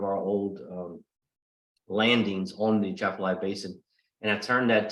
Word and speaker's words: Atchafalaya: to Yes, pronounce yes. that for me again? Atchafalaya.